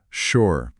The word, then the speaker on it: sure: Pronúncia sure. S com som de X e final mudo.